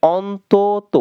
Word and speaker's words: অন্তত: অন্তত হবে অন্তত, উচ্চারণটা এভাবে করতে হবে, অন্তত।